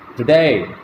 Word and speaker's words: today: But here, the second syllable day is stressed. The first syllable is unstressed. So we utter the second syllable with greater breath force. We utter the second syllable loudly, today.